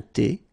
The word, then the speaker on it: thé: Un café glacé, un thé, remember H is not pronounced.